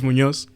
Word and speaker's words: Muñoz: I don't know how to say It's Muñoz.